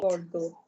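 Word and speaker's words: Bordeaux: to a plural noun but this is pronounced as just me bordo B bordo that's right bordo which is a city in France now I'm coming on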